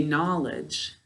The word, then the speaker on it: knowledge: read our word good no ledge is how we say it to spell it when we're speaking we say knowledge knowledge let's see where's our